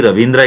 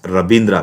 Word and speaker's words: Rabindra: So actually Ravindra it should be, but I am sorry, it is Rabindra, because Rabindra B is pronounced in North India, but in South India we see Ravindra. So there is no V in North Indian languages like Bengali, something like that.